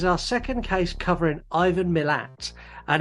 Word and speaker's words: Milat: And this is our second case covering Ivan Milat. And it's Milat. We've been corrected, but we've got a message later. Someone corrected us on... Milat. Yeah, not millet. Okay. And not Malay either.